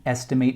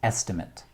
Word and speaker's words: estimate: used as a noun when used as a noun estimate has a different pronunciation which is estimate so the word is